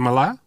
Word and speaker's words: Malia: Apparently, it's Malaya's favorite show. Is it Malaya? Yeah, it's spelled like Malia. Right. Yeah. So Malaya.